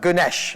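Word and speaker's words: Güneş: the way it took me a while but Ganesh okay she's based in Turkey and she works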